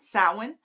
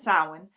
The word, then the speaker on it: Samhain: But I was taught when I started that we pronounce it Samhain.